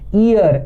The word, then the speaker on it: heir: ईयर, HEIR, इसमें H silent होता है, तो इसका मतलब होता है उत्तराधिकारी।